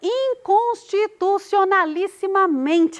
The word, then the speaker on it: inconstitucionalissimamente: Inconstitucionalissimamente é o men a sílaba tônica. O men é a penúltima sílaba dessa... Não, é a penúltima sílaba dessa palavra.